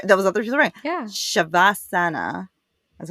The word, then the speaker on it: Shavasana: you're right there those was other people yeah shavasana that's how they said it interesting uh learn